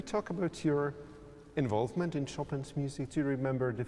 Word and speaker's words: Chopin: you know you know you even pronounce the name of the composer from very polish way we say chopin in polish not chopin like many people do in the world so it sounds polished